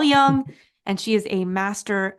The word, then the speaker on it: Jung: Those of you who have seen Carl Jung, it's spelled Jung. Maybe you pronounce him Carl Jung. It's Carl Jung, and she is a master at his body of work.